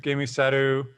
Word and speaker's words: Gēmusetto: It's Gēmusetto.